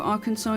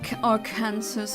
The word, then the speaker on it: Arkansas: I'm moving to Arkansas. It's insanely cheap. Oh, nice. I know it's not Ar Kansas. It's pronounced Arkansas for some reason.